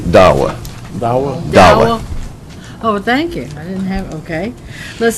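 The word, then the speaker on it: Dahua: that and that is da hua I don't know how that one is pronounced I didn't know that one either they pronounce it Dawa oh thank you okay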